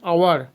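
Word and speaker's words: hour: আমরা নেক্সটে যদি যাই, দেখো লেখা আছে অ্যান আওয়ার, তাহলে অ্যান শব্দটা আওয়ারের আগে বসেছে এবং এটা অ্যাকচুয়ালি একটা আর্টিকেল, এবং কেন বসেছে, আওয়ারের এইচের উচ্চারণ হয়নি, এখানে ও থেকে যে উচ্চারণটা হয় সেটাই উচ্চারণ হচ্ছে।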